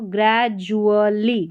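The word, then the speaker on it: gradually: grey जू ठीक है यहां पर डी का उच्चारण ज है तो ग्रेजुअली ग्रेजुअली पढ़ना है जली पढ़ेंगे इस डी यू A double L वाई है ज्वली करके पढ़ना है ग्रेजुअली यहां पर देखिए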